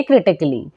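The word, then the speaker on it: critically: ए हो जाएगा साइलेंट जैसे क्रिटिकली यहां पर भी लास्ट में एल एल वाई है तो ए हो जाएगा साइलेंट तो पढ़ेंगे क्रिटिकली जैसे सर्जिकली यहां पर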